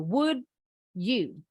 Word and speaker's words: would you: Contoh selain did you, would you. Ini juga sama. Diakhiri huruf D, diawali huruf Y.